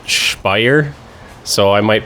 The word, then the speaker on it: Speyer: say that already so they have a tendency from what I overheard of course I don't speak German to pronounce it spire so I might pronounce